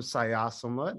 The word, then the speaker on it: Xayasomloth: to everybody hi everybody my name is sayasamut i'm a bookseller here at changing hands and